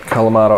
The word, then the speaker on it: Kalamata: they're lots of Olives what's of the kalamata yep that's how you say it kalamata olives 2 blocks of